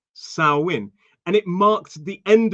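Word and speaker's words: Samhain: It looks like Sam Hyen, but apparently it's pronounced Sawin. Sawin.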